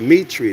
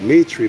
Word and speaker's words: mitre: that's the proper spelling there's some hebrew israelite organization that wears a meat tree that's how they pronounce it mitri but the same spelling to my understanding y'all google search it